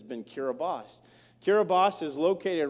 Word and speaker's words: Kiribati: to the country of Kiribati. And I did pronounce that right. It's Kiribati in the way you spell it, but T-I is an S in their language. And so blame a typewriter, don't blame me.